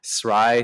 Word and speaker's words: Sry: thing and it's pronounced sry so like fry but with an s some people don't know